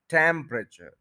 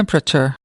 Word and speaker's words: temperature: टेम्परेचर, temp, देखें आपको ज्यादा कौन सुनाई दे रहा है, टैम्प, उसके बाद वाला जो हिस्सा है वो इतना सुनाई नहीं देगा। टेम्परेचर, टेम्परेचर, टेम्परेचर, यानी टेम्प को ज्यादा आपने टाइम देना है, ज्यादा स्ट्रेस देना है।